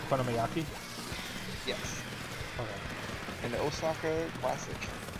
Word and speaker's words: okonomiyaki: I can't remember how to spell it. Fuck you. It's okonomiyaki. Okonomiyaki?